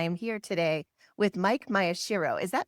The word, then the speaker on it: Maeshiro: This is your host, Leslie Neese, and I am here today with Mike Maeshiro. Is that right? Did I pronounce that right?